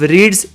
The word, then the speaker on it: read: इसका पास्ट करने के लिए मुझे सिर्फ रीड्स इस शब्द को चेंज करना होगा। उसका पास्ट होता है रेड, स्पेलिंग READ ही रहता है।